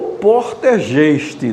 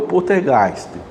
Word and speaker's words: Poltergeist: que são casos de poltergeist, ou poltergeist ou portergeist, depende exatamente de que, na pronúncia mais em alemão é o poltergeist.